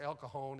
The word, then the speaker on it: El Cajon: said i'm going to el cajon and san jose she said out here we pronounce that j like an h it's el cajon and san jose how